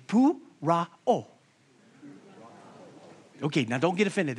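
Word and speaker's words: πωρόω: Pou-ra-o. Pou-ra-o. Now, look to your neighbor and say, pou-ra-o.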